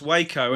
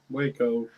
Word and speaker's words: Waco: I believe that's pronounced Waco. And all I ever want to do is go, boom, boom, boom. Let me hear you say Waco. Waco.